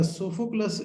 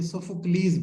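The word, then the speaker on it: Sophocles: इसकी दो जी सर। pronunciation हमारे पास आएंगी जब इंग्लिश में बोलेंगे, लेकिन इसकी जो है ग्रीक में जाएंगे ना, तो ये सोफोक्लीज बनेगा।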